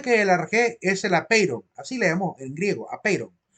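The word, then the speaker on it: ἄπειρον: Apeiron, yo al principio de la filosofía, cuando leí por primera vez la palabra apeiron en griego, creí que decía apeipon, porque la letra R, la letra ro, en la sílaba ron, pareciera que fuera una letra P, ¿verdad? La letra ro se hace como que fuera una letra P así, medio cerrada, medio semicerrada. Y yo siempre leí apeipon decía yo, y nada que ver, era apeiron.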